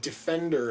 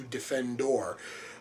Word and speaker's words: Defendor: and at that point he mispronounces the name the way everybody else does which is just calling him Defender as opposed to defendor uh once more that